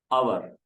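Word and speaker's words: hour: घं घंटे वाला हाथ तो यह लफ्ज है अवर हा इसको नहीं पढ़ेंगे हर नहीं पढ़ेंगे एच इसमें साइलेंट है ठीक है लिखा जाता है एच पढ़ा नहीं जाता तो अवर हैंड तो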